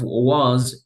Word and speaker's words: was: past continuous for example the pronunciation of was is more like a z at the and not an S so try to pronounce not was but you say more like was so this is the z sound so you say was